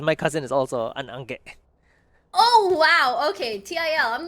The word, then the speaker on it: Ange: So, and the way we actually pronounce it is Angge. Angge. Yeah, with a g instead of a G.